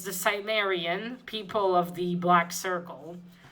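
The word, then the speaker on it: Cimmerian: comments uh ish not conan the sim the sumerian thank you to um vivi uh varenji and vigil handy for uh helping me out pronounces that it's the cymerian people of the black circle issue two in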